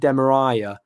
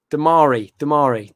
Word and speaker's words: Damari: I pronounced Damari Gray's name wrong on TalkSport. I said Demariah.